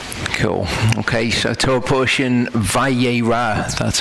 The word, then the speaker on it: Vayera: Okay, so Torah Portion Vayera, that's how it's pronounced.